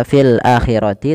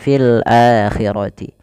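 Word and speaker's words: الآخرة: Maka tidak dibaca fil akhirati tapi fil akhirati.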